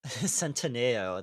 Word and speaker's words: Centineo: But uh Centineo, that's how it's pronounced.